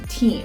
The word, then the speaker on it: TIM: Point number 4 today is about team. Team. Okay, pronounced the Italian way.